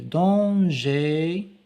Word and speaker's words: danger: Le danger, ER se prononce comme E, aller, EZ qui se prononce comme E.